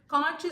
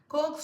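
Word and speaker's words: Koch: காட்ச் snowflake இல்லை கோக் snowflake, அது ஆத்தரோட அந்த கோக் அப்படிங்கிற ஆத்தரோட பேர்.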